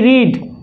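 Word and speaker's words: read: রাম পড়ে, পড়া ইংরেজি কি রিড, রাম রিডস, রাম পড়ে না, Ram does not রিড, রাম কি পড়ে, ডাজ রাম রিড, রাম পড়েছিল, রাম রেড, উচ্চারণটা দেখেছ, রিড বলিনি রেড, past form Ram রেড, রাম পড়েনি, রাম ডিড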